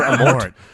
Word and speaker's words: Amort: Father Amort. Yeah, Father PH is silent. Amort.